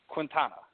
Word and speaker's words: Quintana: is that is that Quinn is that how you pronounce it consignor yeah pretty clear quintile so almost like like a katana but with it with a Q yeah yeah exactly ha